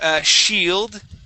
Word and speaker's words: shield: Okay, let's go to shield. Okay, pronounce that D at the end for me.